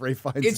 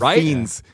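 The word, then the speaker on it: Fiennes: I can hear Mer cringing now at both of our pronunc pronunciations of of Ray Fine's name. It's Ray Fines. It's Ray Fines. You said fiends.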